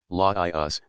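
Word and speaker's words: Laius: but are frequently mentioned leus pronounced as three syllables Laos the last king of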